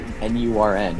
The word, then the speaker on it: Nurn: Like, how do you pronounce N-U-R-N?